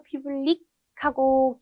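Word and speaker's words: publique: 남성 형용사는 좀 더 public하고 기역 받침으로 좀 끝난다라고 하면 여성형은 끄가 붙으니까 public, public. 끄가 조금 발음이 살아난다라고 보시면 되겠습니다.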